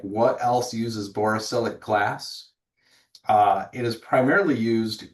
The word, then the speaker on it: borosilicate: borosilicate, did I say it right?